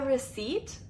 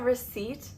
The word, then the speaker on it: receipt: The P is silent.